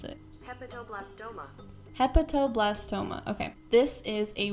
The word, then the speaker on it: hepatoblastoma: this hepatoblast hepa i'm gonna ask homegirl to pronounce it hepatoblastoma hepatoblastoma okay this is a rare tumor an